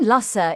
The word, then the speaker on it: Lussa: The name Lussa is a place name at the north of the island and is pronounced as it looks. Luss rhymes with bus.